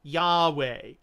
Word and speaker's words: Yahweh: theodoret following these hints modern scholars believe that the approximate pronunciation was Yahweh unquote although even with